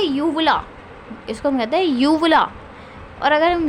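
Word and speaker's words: uvula: इसको हम कहते हैं यूवला। और अगर हम यू को साइलेंट करें, भाई हमारी प्रोनाउंसिएशन नहीं है भाई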